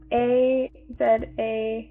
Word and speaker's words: Azayang: There are 6 words here that we were hoping to kind of get the proper pronunciation on. So the first one is AKALAW. That's Akala. And then AZAYANG.